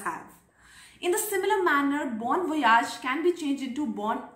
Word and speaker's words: bon voyage: Number three word is bon voyage. Bon voyage is spoken with a ja, Y-A-G-E, but ja is how it is pronounced in France. So bon voyage means bon is good and voyage is travel or journey.